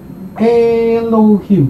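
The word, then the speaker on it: אֱלֹהִים: Jadi ini bacanya adalah Elohim. Jadi kalau Bapak Ibu menemukan tulisan seperti ini, bacanya adalah Elohim gitu. Elohim itu adalah kata yang kedua yang kita pelajari. Elohim. Elohim, 3 suku kata.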